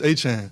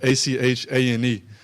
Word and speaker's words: Etienne: So growing up, it's Travis Etienne. So it'd be like Achane.